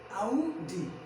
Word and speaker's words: Audi: That's not real pronunciation, क्या वो real pronunciation नहीं है। अरे यार ये आडी कार होता है, नहीं क्या होता है, आडी कार नहीं होता, आडी क्या होता है, गलत होता है। ये क्या होता है, आउडी होता है, आउडी क्या होता है, आउडी।